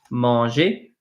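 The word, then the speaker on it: manger: YouTube screen so Monge is felt like this mangy mangy it's spelled like this right mangy is to eat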